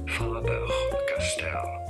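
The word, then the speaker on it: Faber-Castell: It is pronounced as Faber Castell. Graf foam Faber Castell perfect pencil.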